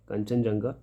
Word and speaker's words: कंचनजंगा: Sorry, कंचनजंगा कंचनजंगा, pronounce इसको कंचनजंगा करें, कंचनजंगा biosphere reserve.